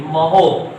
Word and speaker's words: mho: मतलब ये जो प्रति ओम लिखा है, इसको कुछ लोग मो भी कहते हैं, इस तरह से, ऐसे महो, MHO, OHM को उलट दिया गया।